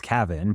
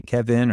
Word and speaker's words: Cavin: when they read it it's Cav it's Cavin but they say Kevin or they they change it to Calvin they add an L cavon is the fancy way to say my name um but I'm